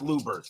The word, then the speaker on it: Luebbers: It is pronounced Lubers.